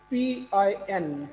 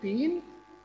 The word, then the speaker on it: pin: Okay if यू से PIN pin what's the vowel sound in this word E. Do you say peen? No, sir. You have to go towards the sound, not towards the letter.